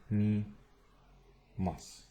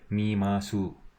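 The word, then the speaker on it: 見ます: Watashi wa I, terebi o, the TV, and watching is mi mas. This SU, it's su, but they generally pronounce it s, like mi mas.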